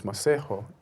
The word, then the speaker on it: Masego: Tell us about your name, Masego, where it came from. It came from, it's a Tswana name, and it's Masego, if the correct pronunciation.